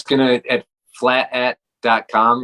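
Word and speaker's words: Flat Aht: right it's gonna at flat at dot com it's f l a t a h t dot com so apparently they say out and they spell it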